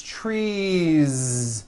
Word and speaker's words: trees: tree or two trees it's not tree with an unvoiced s its trees with that voiced ending you see that another